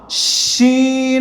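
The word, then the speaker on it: ش: মধ্যে কোন নক্তা নেই তারপর শিন এটা মোটা শিন দেখেন প্রথম আওয়াজটা কেমন হয়েছিল সিন সিন তারপর শিন মোটা শিন শিন শিন হ্যাঁ এই তিনটা হরফ একসাথে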